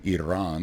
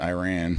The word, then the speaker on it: Iran: I had 2 guys from Iran, is the right way to say it, not Iran, right?